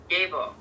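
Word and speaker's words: Gebo: Pronunciation, Gabo. Letter sound, G, as in gift.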